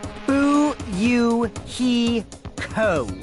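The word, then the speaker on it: Fuyuhiko: I make a mistake my first name is pronounced boo you he Co I'm still an inexperienced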